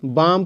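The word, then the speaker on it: bomb: नियम क्या है कि एम के बाद आया हुआ ब प्राय साइलेंट रहता है जैसे बी ओ एम बी बाम पढ़ेंगे कम पढ़ेंगे ड एम भी डम पढ़ेंगे ठीक है बम मतलब बम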